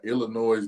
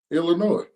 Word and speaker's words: Illinois: was that I team Illinois okay you said it right this time you said it with a s a second ago Illinois yep what the hell is the damn difference it's not Illinois you know you got to